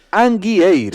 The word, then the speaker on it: Anguieiro: Angueiros non poñas, Anguieiro.